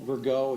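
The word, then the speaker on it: Rigaud: My name's Virgo. It's spelled R I G A U D.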